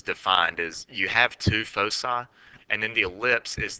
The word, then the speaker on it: foci: I pronounce it foci. A lot of people pronounce it foci. I looked it up and apparently both of them are acceptable, but I'm going to say foci because I like that better.